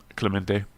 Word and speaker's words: Clemente: what's your real name Clemente Clemente it's not like chlamydia you always say listen your media's corner yeah Selena's corner Clemente I'm calling you that